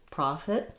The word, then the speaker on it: prophet: So, they both have stress on the pro syllable. Letter O says the A sound. Um and then um we have the just a reduced I in the second syllable profit fit. So you can think of it almost as being almost no vowel there. So the pro is long and then I'll write it with an i.